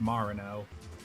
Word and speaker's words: Marino: Apparently your name's pronounced Marino.